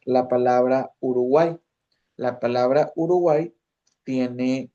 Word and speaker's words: Uruguay: Como por ejemplo, si nosotros pronunciamos la palabra Uruguay, la palabra Uruguay tiene, si la separamos en sílaba, es Uruguay. Son tres sílabas, ¿verdad?